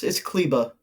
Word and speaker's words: Kleber: No, it's Kleba.